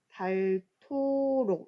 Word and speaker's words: 닳도록: 자 우리 친구들 발음이 달 도록이라고 써 있지만 읽을 때는 어떻게 해야 되죠 발토록 이렇게 말하면 됩니다 하느님이 자 우리가 하느